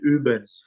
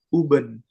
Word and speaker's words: Üben: kata kata latihan ya, latihan itu di Jerman bahasa Jerman itu Üben. Nah, dulu kita tuh belajarnya tuh pronunciation-nya tuh kayak Uben.